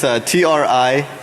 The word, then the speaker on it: Trinary: It's TRINARY, trinary, like 3 naries. All right, so trinary software is a technically